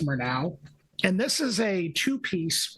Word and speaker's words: Murnau: on to a group called mer now I think it's pronounced more now and this is a